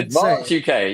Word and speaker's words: Advance UK: So, it's advanc UK. Is that how we say? Advance UK. Yeah. You got to You can't say it like Colgate. You got to say Advance.